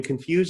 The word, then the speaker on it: confuse: the word so in confused and disorient confuse ends with a final syllable stress fuse whereas disorient doesn't the spinal syllable is not stressed and generally it seems